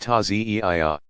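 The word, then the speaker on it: Ta'ziyah: In more traditional Shi'i villages, people still gather to reenact the events in a passion play called the Taziyah, pronounced Tazi'iyah.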